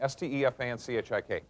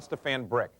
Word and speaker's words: Stefanchik: See, in other words, I say Stefanchik as clearly as I can, and I get back things like Stefan Brick, which is okay. It's close, but it's not right on.